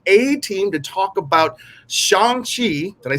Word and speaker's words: Shang-Chi: So this is the A team to talk about Shang-Chi.